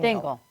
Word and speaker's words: Dingle: Sort of. Dingle. Like jingle I don't bells.